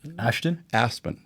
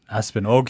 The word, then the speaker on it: Aspen: Ashton? Aspen.